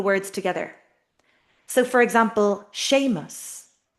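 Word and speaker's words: Séamus: So for example, sheamus, a masculine name, shame. Two syllables, two beats to the word. It's stuck together. The m the consonant is in the middle. Sha mus.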